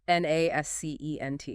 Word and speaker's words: nascent: N-A-S-C-E-N-T. Nascent. 2 syllables. Stress on the first.